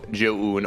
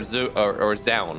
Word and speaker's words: Zoun: I believe it's the actual Chinese is like Chaoun, but in the Koreanization of it, it is now Joun or Joun. And of course, if we're talking fast, if something big is happening, it's then Joan or Zoun or Zoun, whatever we do when we actually just kind of screw the name up.